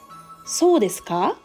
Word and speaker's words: そうですか: Ka is pronounced with a rising intonation. When pronounced with a falling intonation, it conveys understanding and listening to the other person's story. Is that so? そうですか?